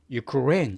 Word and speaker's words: Ukraine: 나라 우리 우크라이나라 그러는데 영어로는 우크라이나가 아니라 어떻게 발음되냐면은 Ukraine 이렇게 레 강사가 들어갑니다.